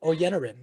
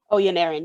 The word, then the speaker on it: Oyeniran: So without a doubt, I want to introduce Channon Oyeniran. Did I pronounce that correct? Oyeniran, you got it.